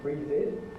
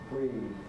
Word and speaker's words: breathed: You don't get breathed. No. It's a regular voiced fricative, just like love, loved, breathe, breathed. That's the regular past tense, formed according to the rule. Let's not hear anybody saying breathed by confusion or mistake.